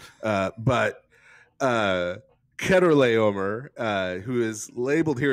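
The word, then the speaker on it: Chedorlaomer: is uh this fellow uh Keter Le uh sometimes pronounced Cheddar Le uh by kids in Sunday school uh and then leading to cheese jokes. Uh but uh Keter Le uh who is labeled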